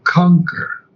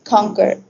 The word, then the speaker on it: conquer: few pronunciations here uh conquer conquer the U is not pronounced okay conquer conquer and then I